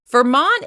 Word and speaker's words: Vermont: Vermont is stressed on the second syllable.